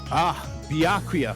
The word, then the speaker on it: Byakuya: Byakuya. That's how you say it.